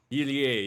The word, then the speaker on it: Irie: I just want to pronounce it correctly. Shigehiro Irie. Irie, yes.